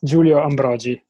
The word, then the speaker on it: Giulio Ambrogi: It's Giulio Ambrogi. But it's the roll of the R's, man.